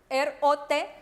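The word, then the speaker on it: рот: La tercera, R-O-T, rot, rot. Acuérdense que les dije que la R no es tan pronunciada, sino es cortica, rot, rot.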